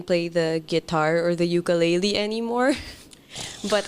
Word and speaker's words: ukulele: go hey and it's and it's ukulele not are you serious I've been pronouncing it wrong my whole life like it's um uku is like uh hair hair lice yeah oh okay yeah so it's kind of like jumping fleas type of thing that that's English Hawaiian